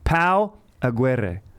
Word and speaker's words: Pau Aguirre: true artist welcome to the podcast dank dankertorians pal aguerre how is that pronunciation uh it sounds good you do well